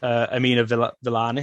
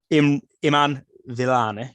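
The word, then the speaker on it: Iman Vellani: being the best, I thought that Kamala Khan, Amina Villani, is that how you say her name? Let's have a look. Iman Villani, yeah.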